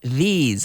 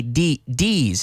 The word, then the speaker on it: these: These. I don't want to hear anybody say D's. No, these. Hay que sacar la lengua.